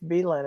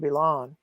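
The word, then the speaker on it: Billund: You've taught me that it's Beelan and not Belon.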